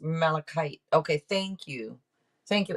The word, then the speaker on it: malachite: __ ] today malachite okay that's how it's pronounced malachite okay thank you thank you Emma Shanaya hello